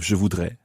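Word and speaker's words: je voudrais: okay and this one you wouldn't pronounce the S of jevoudre because it's not followed by a vowel so I would like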